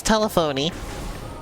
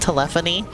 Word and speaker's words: telephony: like I found out the word telephony is pronounced like that I thought it was telephony you know like a telephone I only recently heard it heard that word pronounced out loud and I heard it pronounced telephony and I was like oh it's like telemetry thank you I can